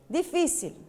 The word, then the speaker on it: difícil: Difícil. Qual que é? Onde que está a sílaba forte acentuada? No fi.